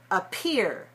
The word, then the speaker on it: appear: Now make sure you're releasing some air. Watch me. If I don't release air on the P, it looks like this. Appear. Appear. But watch this. Appear. Appear. Do you see the difference? Appear. Appear. Appear. Appear. Appear. Appear. A lot of air Appear. comes out on the stressed syllable.